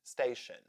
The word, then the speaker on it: station: So, sion and tion as shen in words tension and station.